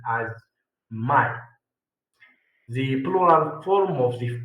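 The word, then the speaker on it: μαι: It is pronounced at my. This is moo and this is ala. This this one iota. So it is pronounced as my.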